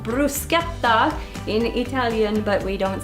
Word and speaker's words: bruschetta: talk to you about bruschetta and it's actually pronounced Bruce gets off in Italian but we don't say that like that here so so i will say brushetta just so everybody knows and in this particular